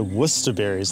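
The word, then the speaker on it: Worcesterberry: Actually pronounced worcester berries though because English spelling is chaotic.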